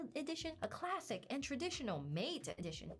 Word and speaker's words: MATE: And XFCE and Mate, it's pronounced Mate. It's named after the tea.